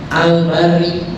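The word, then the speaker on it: البارئ: Al-Bari, alhamdulillahil bari, baknya dibaca fathah ya.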